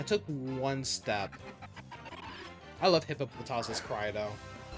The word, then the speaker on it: Hippopotas: I know some people say hippop hippo hippopotus but it's hippopotas. They said it that's how they pronounce it in the anime at least.